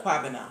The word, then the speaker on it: Kwabena: Am I saying it wrong? No. It's just the accent, you know. Abena and Kwabena. Like American hear me speak.